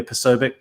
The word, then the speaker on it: Posobiec: Is that how you pronounce his last name? Jack Posobiec. Yeah, Posobiec.